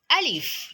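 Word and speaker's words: ألف: Alif, as I said in the last video, is pronounced as a, while Hamza is pronounced as a.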